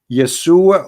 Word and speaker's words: Yeshua: You say yes, Yesu, but there's no side no Yeshua. What Yeshu? It is Yeshua or Yeshua.